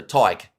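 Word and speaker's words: Tadhg: Like tie, as in like a tie, and then g. So Tyke.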